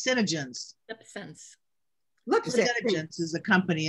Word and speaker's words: SeneGence: called scentsy am i saying it wrong it's senegence sense looks is a company in yeah okay